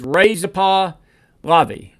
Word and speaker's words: Reza Pahlavi: She says Reza Pahlavi. And I apologize for mispronouncing his name, but so forth.